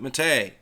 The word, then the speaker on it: MATE: the Mott a desktop yes I know it is spelled ma te for you newbies out there before you post a comment we call it matei that's the way it is and yes I'm